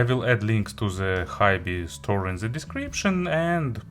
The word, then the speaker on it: HiBy: hibi or high b still not sure about the correct pronunciation probably high b is a proper way so it's model crystal